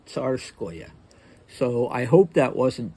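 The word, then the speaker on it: Tsarskoye: that OE, you should insert a Y between the O and the E to give it the proper phonetic spelling. So you see that O and E, and you know it's going to be pronounced Oya, Neskuchnoya, Ilinskoya, Tsarskoya.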